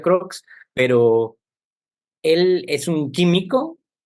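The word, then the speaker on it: Crookes: todas sus estudios a este señor cres como me gusta decirle se pronuncia croc Pero él es un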